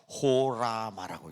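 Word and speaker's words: ὅραμα: 글자가 좀 이상하지만 호라마라고 읽습니다. 이걸 호라마.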